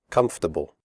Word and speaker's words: comfortable: Comfortable. The word comfortable has 3 syllables, not 4. The OR is silent. We say comfortable, not comfortable.